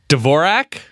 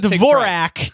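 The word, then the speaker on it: Dvořák: Dvorak? That's how I pronounce it. I'm sure I'm wrong. Antonin Dvorak is rolling over in his grave because it's Antonin Dvorak.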